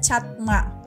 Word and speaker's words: çatma: selanjutnya di lirik selanjutnya ada kayak c yang ada ekornya nah c yang ada ekornya baru disebut C dalam bahasa Turki jadi itu bacanya catma catma kemudian ada lagi itu